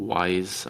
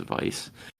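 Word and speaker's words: Weisz: me I actually have Rachel Vice or Rachel wise I don't know how to pronounce I'm pretty sure it's Vice mhm um you went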